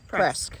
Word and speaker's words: Presque Isle: And we asked, it is actually pronounced Presque because we were a little bit unsure.